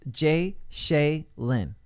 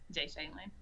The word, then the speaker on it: Ja'Shaelyn: So it's pronounced Jay Seline, right? Yeah, Jay Seline. Jay Seline in the building with us.